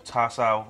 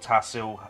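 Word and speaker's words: 叉烧: So that's what the barbecue sauce, it's the sauce made from Chinese roast pork or ta sao or ta siu, however you want to pronounce it.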